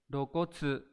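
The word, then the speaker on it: 露骨: Đây là chữ lộ ghép với chữ cốt, đọc là rokotsu.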